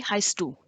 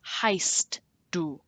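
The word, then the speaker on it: heißt du: a new question v heistu this means what are you called the strange b looking symbol in the middle of the word represents a double s so pronounce as such the heist do one of those like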